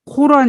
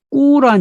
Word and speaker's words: 꾸란: 하늘에 올라가 따왔다 라는 이야기입니다 이 꾸란 여러분이 코란 일하고 계시잖아요 코 라는 사실은 영어로 쓴 거구 약간의 비 하자 그 의미가 담겨있다 그래요 그래서 꾸란 이라고 읽어 중에 좋습니다 이 꾸란 은 이런